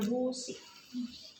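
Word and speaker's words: bougie: Nulisnya bogie bo busi namanya dibacanya busi.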